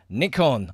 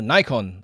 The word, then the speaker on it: Nikon: spend some time talking Nikon or Nikon, and depending on which country you're from, because they pronounce slightly differently, I believe.